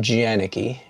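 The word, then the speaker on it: Jaenicke: J-A-E, it's pronounced Janicki, but spelled J-A-E-N-I-C-K.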